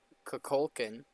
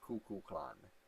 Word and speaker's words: Kukulkan: But I believe this god pronounces his name like Kukulkan.